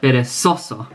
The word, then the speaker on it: perezoso: So it's not perezoso, it's not perezoso, it's not perezoso, but perezoso.